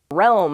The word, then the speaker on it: realm: this important deal realm realm I see why this one's hard it's that role part that'll roam it's a weird word isn't it it's used to talk